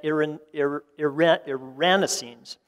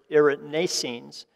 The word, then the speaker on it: erinacines: And I'm going to use Dr. Jim Duke's pronunciation here of these compounds because I always like his second syllable emphasis. But hericenones and erinacines as well.